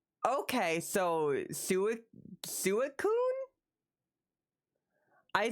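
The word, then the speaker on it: Suicune: Now, apparently the official pronunciation is suicun.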